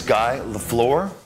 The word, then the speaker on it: Guy LaFleur: My name is Guy LaFleur. Guy spelled like Guy, and LaFleur is a French name.